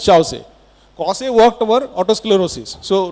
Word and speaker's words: Chausse: This is the spur of Causse or Chausse. We pronounce it as Chausse.